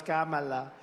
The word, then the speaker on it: Kamala: here and we're going to defeat crazy CA Kamala you know there's about 19 different ways of saying it she only likes three Biden never even came close ham she ham no it's Kamala it's so disgraceful and disgusting to me that